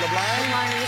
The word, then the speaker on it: LeBlanc: You pronounce it LeBlanc?